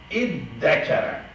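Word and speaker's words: ادّكر: This ta turned to dal. Id tekere. These two made one. Iddakara. So result is iddakara.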